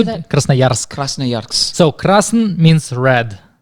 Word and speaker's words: Krasnoyarsk: Krasnoyarsk.